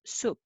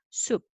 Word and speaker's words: 숲: And 스 plus 우, 수, and then up underneath, 숲, 숲.